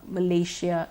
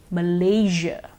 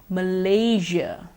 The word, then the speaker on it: Malaysia: we've been using the share so far Asia Malaysia Indonesia but the correct pronunciation is actually with the usual sound Malaysia Indonesia Asia once more Malaysia Indonesia Asia you may have heard the advertisement